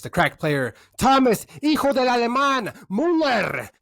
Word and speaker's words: Müller: Mueller. Müller. Mueller. How do you pronounce it in German?